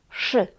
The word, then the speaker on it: przy: Or no, pay attention, here it's przy, przy, przy, not pr, not przy.